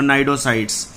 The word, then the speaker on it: Cnidocytes: अगर आपसे कोई पूछे तो नाइडोब्लास्ट और नाइडोसाइट्स टेंटिकल्स को बोला जाता है और इसीलिए because of these name it is called as the Cnidaria. यहाँ पे सी साइलेंट है सभी में।